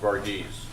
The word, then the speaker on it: Varghese: Pronounced Varghese. Varghese? Is that it? I got it wrong. Varghese. I'll try to remember that next week. I won't be here. Remember that next week. Okay. Varghese. All right. Borghese. I know a bunch of them and they say Varghese. Well, I'll ask him how he wants his name pronounced. East Indian name, not Italian.